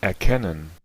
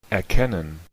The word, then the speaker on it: erkennen: erkennen, erkennen, erkennen, Bueno, no sé cómo se utilizan dos E abiertas en esta palabra, en EA, luego en ken, y luego tenemos el N, que sería con un ishpa.